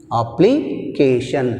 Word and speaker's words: application: From the ending of the word, see here, first syllable is shan, second syllable is k. So C మీద మనకు stress ఉంది. C, application. In application we have stress mark on C.